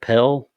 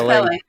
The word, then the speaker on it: Pelle: How do you say that the guy who invited him, is it Pelle? Is it Pele? Pele? I think it's Pele. Yeah, Pele.